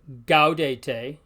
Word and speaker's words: gaudete: much the same way it's usually hard as in the English word go like seagull so the word for rejoice is hard gaudete the G sound is